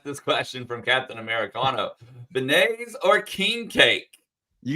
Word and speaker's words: beignet: question from Captain Americano Benet or king cake you gotta say it right it's beignet beignet excuse me be come